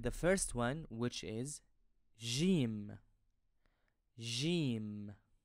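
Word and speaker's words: ج: first one which is Jim I pronounce this letter as a French J in bour an Arabic word for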